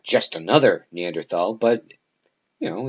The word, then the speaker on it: Neanderthal: that's where the neanderthals neanderthal or neanderthal either way is correct i believe the german pronunciation would be neanderthal the this is where